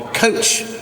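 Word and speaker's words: txotx: The Cider The Cider season is called the coach season but it's spelled it's spelled TX o TX but it says right there it's pronounce i SS i p p i so uh during the coach season they have these barrels that sound like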